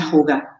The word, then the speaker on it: hygge: Y ellos durante muchos años hacen una práctica que se escribe H-Y-G-G-A, se pronuncia Hygge.